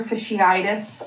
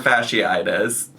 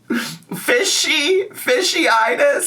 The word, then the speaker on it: fasciitis: She's trying to say plantar fasciitis. Am I even saying it right? Now I'm going to question myself. But I just like fishiitis, like salmon, trout, bass, tuna, like that kind of fishiitis. Where that word is, it was giving that.